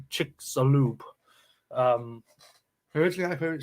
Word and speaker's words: Chicxulub: And yes, we had to search out how to pronounce that word before doing the stream. It's Chicxulub.